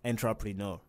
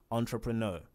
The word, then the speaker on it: entrepreneur: driver the next is entrepreneur it is not intrapreneur it's entrepreneur entrepreneur the next is tear tear as in